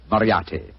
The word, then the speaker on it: Moriarty: I'm afraid I'll have to begin calling it the way it looks. M-O-R-I-A-R-T-Y. Moriarty. Moriarty.